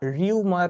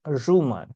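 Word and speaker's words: rumour: দা আর ইউ এম ও ইউ আর উচ্চারণটা রিউমার নয়। ঠিক উচ্চারণ রুমার।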